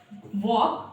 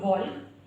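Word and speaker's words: walk: टॉल्क यानी कि बातचीत, वॉक नॉट वॉल्क यानी कि चलना, कुड सकना, शुड चाहिए, साम प्रार्थना, वुड गागिए।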